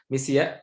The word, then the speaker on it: misia: Misia means spelled as M-I-S-I-A, Misia, like, but is already pronounced as Misia.